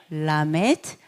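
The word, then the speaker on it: ל: 라메드. 네, 배우다. 라메드 리을 발음, L 발음.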